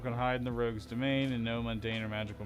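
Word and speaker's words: demesne: is to domain like i know it looks like what it looks like but it's supposed to be pronounced like domain um i don't know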